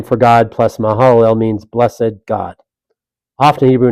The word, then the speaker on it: Mahalalel: Balaam was well, we'll move on to Malahel. Is that how you would pronounce that? Mahalalel.